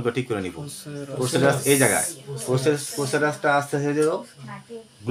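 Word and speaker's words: procerus: মাসেলটা হলো প্রসেসেরা আমরা সবাই একটু দেহে আমরা উচ্চারণ করে ঠিক করে নিব প্রসেসেরাস এই জায়গায় প্রসেসের প্রসেসেরাসটা আছে গ্লোবেলা গ্লোবেলা হচ্ছে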